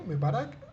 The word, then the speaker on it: Mebarak: Shakira se llama Isabel me me para qué me Barak repol y Cómo se escribe Ripoll l Isabel me Barack Ripoll bien